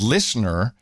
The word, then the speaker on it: LISNR: But fast forward a few years, the company is called Listener. Of course, you spell it LISNR.